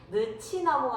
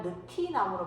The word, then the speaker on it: 느티나무: 얘는 9개월만 적용하지 않죠 늦취나무가 아니라 느티나무로 발음을 하는 것이죠 그래서 여러분 이곳을 보면요